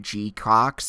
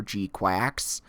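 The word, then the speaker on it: GQuuuuuuX: I'm told that the pronunciation, and listening to the Japanese trailer, it sounds like G-Cox or G-Quacks.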